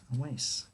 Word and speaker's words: Awais: perfect that's great okay great how do you pronounce that awas a waste a waste yeah all right always i'm by the